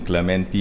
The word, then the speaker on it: Clementi: For me, it's always been Clementi. Yes. No, it's Clementi. You've got the accent on the wrong syllable.